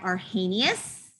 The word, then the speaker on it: Arrhenius: into acids and bases um was this guy arrhenius is how you say that okay and so